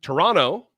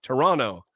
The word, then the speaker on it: Toronto: Hello from Toronto, or as they say in Canada, Toronto. They don't pronounce the other T. Toronto.